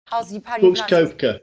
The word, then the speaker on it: Koepka: question now is Brooks quote Cohen powdered you pronounce his Brooks koepka yeah yeah is there value on him would